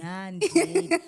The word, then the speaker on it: Nyandeni: Nyandeni.